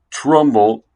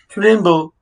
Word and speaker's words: Trumbull: Price Trumbull, and Peter Lorre had Always miss. the way he pronounced it. Yeah, Trimble. Trumbull. I said Trimble.